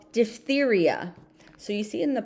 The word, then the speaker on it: diphtheria: It was called diphtheria. So you see in the parentheses, this is actually saying how the word is pronounced. So in the English language, PH makes an F sound.